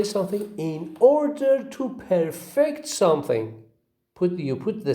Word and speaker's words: perfect: On this page, we have got two examples of the word with perfect and perfect, where the word perfect receives stress on the first syllable and the word perfect as a verb receives on the second syllable.